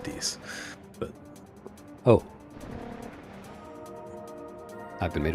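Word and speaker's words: dix: In French, 10 translates to dicks. Like everyone to repeat that after me. Dicks. I believe it's pronounced dis.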